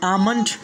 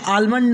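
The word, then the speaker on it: almond: फिर उसके बाद में आमंड, यानी आलमंड नहीं पढ़ना है बल्कि आमंड पढ़ना है।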